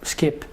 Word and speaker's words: SCYP: This project, also referred to as SCYP, pronounced "skip", recruits students...